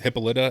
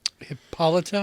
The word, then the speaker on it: Hippolyta: It was an interesting take on Themyscira and Hippolyta. I think her mother's name is Hippolyta, I think is the pronunciation.